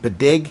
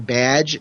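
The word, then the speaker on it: B'dg: I liked the whole interaction with, is it Bidig? Is that how it's pronounced? Because I'm terrible when they don't put vowels with trying to figure out the pronunciation of it. But I've always said Bidig, and then during the Robot Chicken special, they called him Badge, so I've kind of taken the Badge thing, since I figured Geoff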